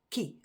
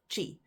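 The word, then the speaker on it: tjie: in an Afrikaans word it is pronounced as Ki and not Chi you might think it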